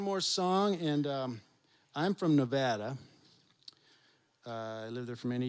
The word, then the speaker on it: Nevada: again in front of a crowd how to pronounce the name of the state, and said it wrong like 4 times. It's Nevada, okay?